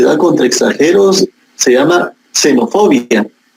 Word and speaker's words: xenofobia: Xenofobia con X, xenofobia, pero se pronuncia xenofobia, es el odio que se le tiene a una persona por ser extranjera.